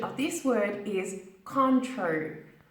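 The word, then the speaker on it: Cointreau: of this word is contrary contrary we don't say it as it's bad it is a French word English speakers pronounce this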